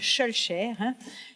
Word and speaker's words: Victor Schœlcher: Tra Victor Schœlcher, si pronuncia Schœlcher. Schœlcher, Jules Ferry o Adolphe Thiers.